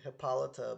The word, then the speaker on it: Hippolyta: hippolyta i'm trying to figure out how to pronounce her name because i keep i keep saying hippolyta but apparently it's hippolyta and i absolutely adored